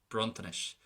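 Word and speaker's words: bronntanais: The second version, it's going to be soft, bruntanish.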